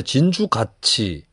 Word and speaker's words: 진주같이: 그래서 이런 식으로 해서 준공영제가 필요하다라는 시민들의 움직임이 있었는데, 여기에 이제 진주가치, 이게 발음하다 보면 진주의 가치 할 때 가치, 진주가치처럼 발음이 되는데, 철자는 진주갓이, 위드, 진주가치도 여기에 참여를 했던 조직입니다.